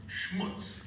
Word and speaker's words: schmutz: I believe the proper pronunciation for schmeared gunky stuff is the Yiddish term schmutz.